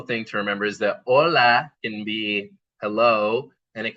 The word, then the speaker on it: hola: Something important is that H's are not pronounced right in Spanish. They're silent. That's why it's not hola. It's hola.